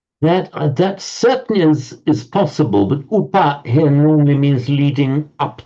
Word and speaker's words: upa: Is the Upanayika, is that upa or apa? It is from upa. Okay, that wouldn't be. Yeah. It's not apa. Okay. It's definitely upa, meaning up to.